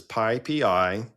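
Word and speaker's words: PyPI: So it is pippi and in pipi which predates pipi um is the python uh JIT interpreter written in Python.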